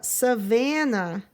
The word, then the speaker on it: savanna: Most lions, oh, there's S making Z sound, live on the savanna. Ooh, this is showing how that's pronounced. Savanna. So you give the middle sound some oomph.